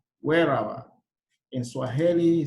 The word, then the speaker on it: Weeraba: And in Luganda, you say wherever.